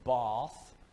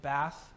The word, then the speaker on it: Bath: That's how they always pronounce it. You can't say Bath. They know you're an American if you say Bath. They all say Bath.